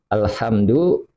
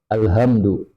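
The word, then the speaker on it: الحمد: Misalkan alhamdu haknya dibaca kecil, dibaca alhamdu haknya besar.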